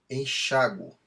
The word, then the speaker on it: enxáguo: Então, enxáguo, enxáguas, delinquo, delinques. Se forem pronunciadas com U tônico, essas formas deixam de ser acentuadas.